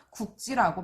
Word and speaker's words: 굵지: 연필이 굵지 않다 라고 할 때는 리을 기역 뒤에 기역이 아니라 지읒으로 시작하는 어미가 오니까 굵지라고 발음하고 얘도 굵다라고 발음해요.